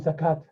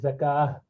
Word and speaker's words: zakah: to salah and zakah we say salat and zakat that's that's not correct we should say salah yeah this is zakah okay so that is why the rounded tab